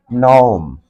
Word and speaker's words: gnome: the correct according to the rules of correct pronunciation as the British and American style. GNOME, nom.